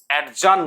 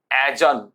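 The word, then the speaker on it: adjourn: অ্যাডজান নয়, উচ্চারণ হবে অ্যাজান। অ্যাজান, অ্যাজান, মুলতুবি করা।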